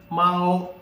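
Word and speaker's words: māo: Okay, so how to say it? Mao. Okay, you will have to take into account the first tone. What is the rule? Drag a while.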